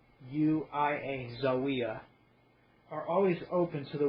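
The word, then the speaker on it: Zaouia: I'm going to just say Zawiya. It's spelled Z-A-O-U-I-A, Zawiya.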